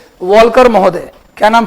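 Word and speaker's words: Walker: वाले पहले विद्वान थे वॉल्कर महोदय। क्या नाम था उनका? ऐसे वॉकर बोलते हैं हिंदी में, वॉकर, एल साइलेंट होता है, वॉकर महोदय।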